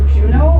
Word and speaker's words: Juno: And you guys just won a Juno Award too? It's pronounced Juno. Oh, Juno, sorry. No, it's actually pronounced Juno.